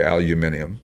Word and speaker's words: aluminum: It's got the aluminum heads, or as the British say, aluminium.